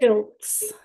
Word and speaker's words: Schultz: I should have asked you this before, but how do you pronounce your last name? I don't want to butcher it. Shilts. Shields.